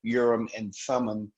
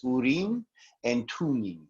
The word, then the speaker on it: Urim and Thummim: hearing them called the urim and thummim but um according to a friend of mine who speaks farsi the the way that it's actually pronounced is urine and tuning so so there's that